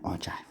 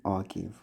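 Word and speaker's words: ogive: but this particular one it's called an ojive okay if you read texts that actually tell you exactly how you pronounce this they will tell you it's m or Jive not an orgive or anything else all right so or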